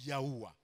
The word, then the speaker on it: Yahuwah: Y, H, W, H. Et ça se prononce Yahuwah, le nom de l'Éternel.